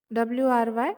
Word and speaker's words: wry: means ironic or mocking here w is silent so we pronounce it wry as right and the